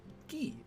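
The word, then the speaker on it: ぎ: You pronounce it as gi, as in like a karate gi.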